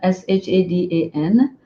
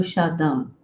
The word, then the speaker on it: Shadan: Shada so that became my nickname and Shada is spelled s h a d a n uh at one point I was going to